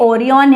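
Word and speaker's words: Orion: आप देखो इसको, ये ओरियन है, ये माना जाता है कि भाई ये ओरायन भी बोलते हैं इसको, ठीक है, अपना अपना प्रोनाउंसिएशन है। अब ओरायन या ओरियन जो भी आप बोलो, ये एक हंटर इमेजिन किया गया है, क्या, हंटर।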